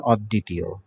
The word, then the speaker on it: অদ্বিতীয়: আমরা জানি মাঝখানে ব ফলা থাকলে সেটি উচ্চারণ দুইবার হয়, যার সাথে থাকে দ এর উচ্চারণ দুইবার হবে, অদ্বিতীয়।